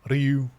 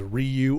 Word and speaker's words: Ryu: I feel like uh for English speakers, one of the hardest um uh syllables to say in Japanese is Ryu R Yu.